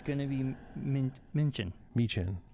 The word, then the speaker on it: Michin: Michin. I'm going to say her name wrong. Michin. Michelin. Told you 4 times, Brian. He's gonna say it wrong forever.